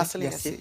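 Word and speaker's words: Marcellin Yacé: C'est Marcelin Yassé, c'est ça? Je prononce bien? Marcelin Yassé. Oui.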